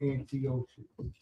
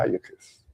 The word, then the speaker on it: Antiochus: Antiochus. Antiochus. Antiochus. That one you just. Antiochus is closer because it has a CH.